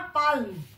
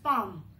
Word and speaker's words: palm: एम, इट इज नॉट पाल्म, ठीक है, पाल्म नहीं बोलना, इट इज पाम. एल is silent, जो एल का जो साउंड है that is silent, it इज पाम.